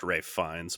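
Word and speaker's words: Ralph Fiennes: designed which Australian Landmark it's pronounced Ray fines by the way the conclave the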